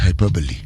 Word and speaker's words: hyperbole: When you uh there's a term it is written hyperbol but it's pronounced hyperbole.